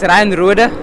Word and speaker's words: Roder: What is it in Afrikaans? It's Ryan Roder. So yeah, that's South African surname.